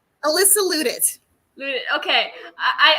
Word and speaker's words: Louttit: loot it okay I I thought I was saying it wrong I was saying it like loud it don't feel bad literally every teacher I ever had pronounced it the exact same way so okay there's dozens